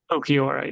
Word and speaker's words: Okiora: But the new Navidi tribe is Doflamingo, Aaron, Ludwig, Mai, Momo, Rosa, Russell, Star and Stripe, and Okiora. Is that how you say it? Okiora, yeah.